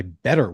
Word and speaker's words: BETR: This show is sponsored by Better, which is spelled BETR.